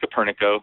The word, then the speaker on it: Koperniko: So what we did was we came up with the software called Koperniko Reports, and it is pronounced Koperniko. It's not Koperniko.